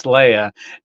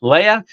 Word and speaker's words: Leia: I always have to go Princess in my mind so that I pronounce it right, because it's Princess Leia, and that's how it's pronounced, Leia.